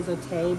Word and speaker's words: Zote: some of them say so I say zote because I believe that's how it's pronounced and then we have